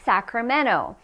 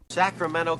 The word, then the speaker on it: Sacramento: cluttered with Spam okay next we have Sacramento there are many cities that have NT and in that case the t is usually dropped now this is the